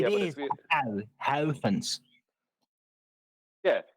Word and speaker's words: Huygens: But it Yeah, but is if you- Huygens. Yeah, Howkins.